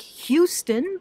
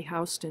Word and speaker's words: Houston: It's called Houston, spelled like Houston, but everybody in New York, you learn early on that you say Houston, not Houston.